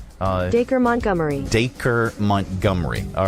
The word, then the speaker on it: Dacre Montgomery: Here is Michaela talking about what she did when she thought she was being romanced by, how do you pronounce his name? Dacre Montgomery.